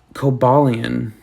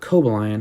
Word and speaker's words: Cobalion: in general um this cobalian or cobalian or cobalion however you want to pronounce it i thought this one